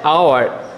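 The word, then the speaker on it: hour: তারপরে আওয়ার, এখানে এইচ এর উচ্চারণটি সাইলেন্ট, সেক্ষেত্রে কি হবে?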